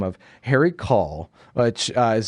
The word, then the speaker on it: Caul: This movie stars Gene Hackman as a man by the name of Harry Caul, which is spelled C-A-U-L. It sounds a bit like call, like C-A-L-L, like you're calling someone on the phone, which I will get